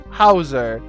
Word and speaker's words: Hauser: Hausa. There we go. Hausa. Hausa with arrows, and see if that's better. I mean, I hope. It's huzzah! Almost. It's like Bowser with an H. Hauser.